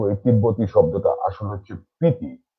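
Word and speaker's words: Spiti: দীর্ঘ 60-70 বছর ধরে এই ভুলটা আমরা করে এসেছি, কিন্তু এই তিব্বতী শব্দটা আসলে হচ্ছে পিতি, এসটা এখানে সাইলেন্ট থাকে।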